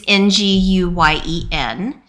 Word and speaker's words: Nguyen: And so I guess I'm wondering if your NG is pronounced similarly to the NG in Wen, which I also actually can't really say. It's sort of like sing-a-song. It's the sing-a-song.